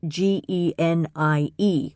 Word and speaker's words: genie: Often in English it is spelled g e n i e which is the more common transliteration of the Arabic spelling and pronounced genie.